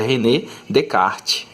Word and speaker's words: René Descartes: matemático francês certo e tem o nome assim que parece que é fácil de pronunciar né tipo rené descartes né mas se não pode pronunciada dinheiro porque esse nome aqui é o nome francês e você tem que vou mostrar esse nome como se tivesse falando em francês tá então aqui a pronúncia correta e renner de kart ok porque não francesa